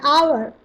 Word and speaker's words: hour: It is an owl, an hour, an honest man, an heir, where H is silent.